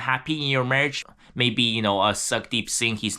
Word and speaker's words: Sukhdeep: So it's spelled Sukh. The H is silent, I believe. Then the Deep, Deep. So I actually believe this is actually pronounced as Sukhdeep Singh.